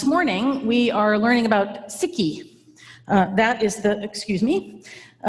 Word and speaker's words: Sikh: we are learning about sikhi that is the excuse me in the united states we tend to say seek because the word sikh is a homonym for the english word meaning ill so but the